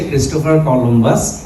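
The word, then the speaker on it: Colombo: explorer উনার নাম হচ্ছে ইংলিশে ক্রিস্টোফার কলম্বাস ইটালিয়ানে উনার নামটা হচ্ছে ক্রিস্টোফার কলম্বুস মানে ইটালিয়ানরা এভাবে উচ্চারণ করে আর কি তো ইটালি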